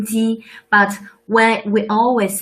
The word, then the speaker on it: 鸡: So 鸡 is the name of rooster, and it shared a similar pronunciation to 吉祥.